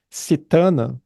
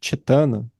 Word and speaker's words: cetana: E aí isso tem a ver com aquele fator mental da direcionalidade cetana ou chetana, se a gente quiser pronunciar de um jeito mais sânscrito, né?